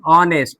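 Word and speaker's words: honest: ऑनेस्ट में एच को silent कर दिया, आव, ऑनेस्ट।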